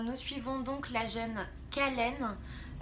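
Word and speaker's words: Kahlen: suivons donc la gêne kallen j'espère que ça se prononce comme ça parce qu'elle passe 2e c'est khl e n kallen qui est transformée dès les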